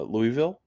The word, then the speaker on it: Louisville: to pronounce it correctly the big one is uh Louisville which is named after King Louis um not Louisville or Louisville or some people say Louisville which uh which is funny because there actually is a Lewisville in Texas but it's actually spelled like l-e-w-i-s um which makes a